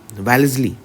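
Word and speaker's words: Wellesley: हाथों चला जाता लॉर्ड वेलेजली वेलेजली सही प्रोनाउंस इंग्लिश का होता है इसका वेलेजली ठीक है के हाथों से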